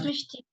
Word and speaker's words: Mishti: And am I pronouncing your name correctly? Is that Mishti? How do you pronounce? Yes, Mishti. Okay.